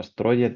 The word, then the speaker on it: Strøget: Otra anécdota, estoy visitando a mi tío en Copenhague, en Dinamarca, en esta calle peatonal que se pronuncia como Strøget, algo así, que es famosísima en Dinamarca porque hay comercios y tal.